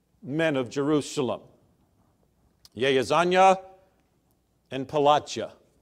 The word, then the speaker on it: Pelatiah: Yehazaniah and Pelatiah. I learned something this week in trying to pronounce these names, that the IAH is Yah. That isn't how we would pronounce it, but I wanted to do it somewhat justice anyway.